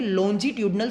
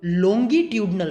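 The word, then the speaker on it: longitudinal: यहाँ पे पहला पार्ट क्या है, उसे हम कहेंगे लॉन्जिट्यूडनल स्ट्रेन, या फिर आप उसे ये से भी प्रोनाउंसिएट कर सकते हैं लॉन्गिट्यूडनल स्ट्रेन। कुछ अलग अलग तरह से ये प्रोनाउंसिएट होता है, लॉन्जिट्यूडनल या फिर लॉन्गिट्यूडनल।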